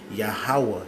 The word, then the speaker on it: Yahweh: Yahweh, He is.